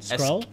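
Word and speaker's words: Skrull: What's a scroll again? A sc Oh, I heard scroll. Scroll. Scrawl. Scroll. Did I say that wrong? Scroll.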